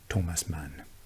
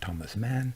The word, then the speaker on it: Thomas Mann: master of german literature thomas mann and let's pronounce his name the german way not thomas mann but thomas mann thomas mann's aging poet